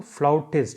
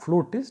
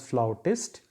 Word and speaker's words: flautist: Flute is to flautist. It is not flutist. Normally it is pronounced and written as flautist.